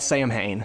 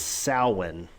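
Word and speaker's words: Samhain: what What's it called Josh it's not called Sam Hayne yeah it's yeah everybody pronounces the same hey but it's it's it's weird it's sowin yeah uh so yeah Salin is this Festival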